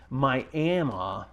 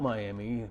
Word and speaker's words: Miami: Miami, not Miami, even though it's spelt Miami, but it's pronounced Miami.